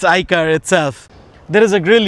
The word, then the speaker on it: iCaur: It's not CAR, but oh yes, it's pronounced that car. It's iCaur itself.